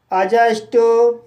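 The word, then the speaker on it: adjust: जैसे अजॉइन, अजस्ट, अजवर, adjective, अजज। तो guys in सभी वर्ड्स में डी के बाद जे आया है, इसलिए डी साइलेंट है।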